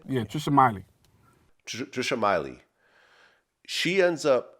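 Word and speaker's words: Meili: Now Trisha Millie, is that how you pronounce her name? Yeah, Trisha Miley.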